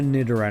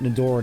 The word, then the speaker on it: Nidoran: I want to see if I can get a Nidoran in here for later. I want to get Nidoran. For some reason, I always pronounced it Nidoran as a kid, like Matoran.